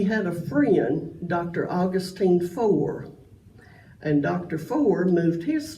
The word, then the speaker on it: Fore: Now, I am pronouncing it Fore, F-O-R-E. When we had some visitors at Keith Church, we asked them how they pronounced it, Fore or Forey, and they said both. So you're all right if you pronounce it either way, according to the Keith